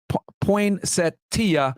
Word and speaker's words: Poinsettia: Okay, the street name is pronounced Poinsettia.